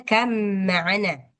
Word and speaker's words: اركب معنا: Jadi bacanya kam ma'ana. Langsung dimasukkan secara sempurna ke huruf mimnya.